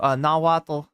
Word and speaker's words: Nahuatl: Do pronounce the T. Thank you. Nahuatl.